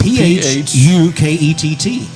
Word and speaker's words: Phuket: Okay, spell it for us. P-H-U-K-E-T-T.